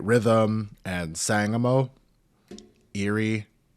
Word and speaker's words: Erie: Erie, Ieer. How do you say that? It's just ear.